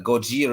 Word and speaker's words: Gojira: same word as Godzilla Gojira is like a more Japanese pronunciation of Godzilla because yeah yeah before